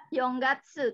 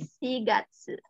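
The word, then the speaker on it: 四月: terus tangga tuh nah untuk eh bulan 4 ini April tidak Young Gatsu tidak ya tapi pakai shigatsu kasih Oh iya ngaku yang bulan 4 pakai shigatsu tidak bekerja enggak tuh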